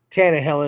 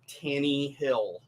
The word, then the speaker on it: Tannehill: I think the Broncos can still be back on track even with Tannehill in the game. It's Ryan Tannehill.